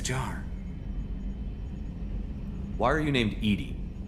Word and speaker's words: EDI: airlock is a jar why are you named Edie Edy is the phonetic pronunciation of e di that is an acronym